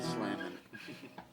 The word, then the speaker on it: Slammin: Slammin door, no G on the end of Slammin. No hard G or soft G. No G at all.